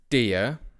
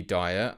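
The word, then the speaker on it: Dier: of you that are correcting my pronunciation of dear it should be dire I am aware now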